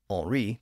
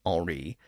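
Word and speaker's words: Henri: the current Monarch was Henry or orri to use a more French pronunciation in fact as we'll see all of the key figures in France during this period were named alri but I'll just use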